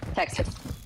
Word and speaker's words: Texas: Okay, Texas. one more time. Texas. I she hear did. it. I hear She it. did! What? Texas? There's no Z in Texas. It's Texas. an S.